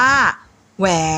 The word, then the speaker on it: แหวน: ว่า หวาน หวอ แก นอ แหวน อ่าน ว่า แหวน อา วอ เต อร์ ดร หวัด อ่าน ว่า